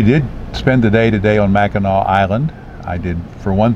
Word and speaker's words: Mackinac: spend today today on Mackinac Island I did for one thing learn the pronunciation of the word is Mackinac not Mac and act it's a French spelling which is kept for